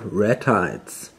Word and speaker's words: ratites: Okay, now thanks to the internet I know now how this is pronounced. It's called ratites.